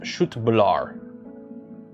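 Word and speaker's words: köttbullar: Although it's pronounced shootbla meatball.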